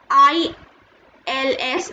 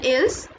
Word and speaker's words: ils: ILS, it is not pronounced as ils, it is pronounced as il, and this means they.